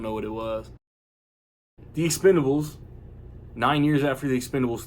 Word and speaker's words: Expend4bles: the marketing is doing I'm not pronouncing the four in the middle of the word Expendables because the four is an A on the poster and the title card and all that crap